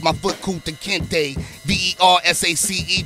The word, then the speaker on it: Versace: foot cool to kente v-e-r-s-a-c-e pronounced versace so how you living